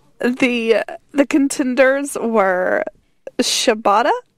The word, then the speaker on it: Shibata: The contenders were Shibata. I think it was Shibata, because I remember it rhymes with ciabatta bread.